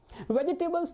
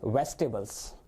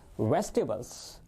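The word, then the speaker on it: vegetables: वेजिटेबल्स नहीं होता है, इसकी जो राइट प्रोनाउंसिएशन होती है वो होती है वेजिटेबल्स। बोलिएगा एक बार मेरे साथ, वेजिटेबल्स।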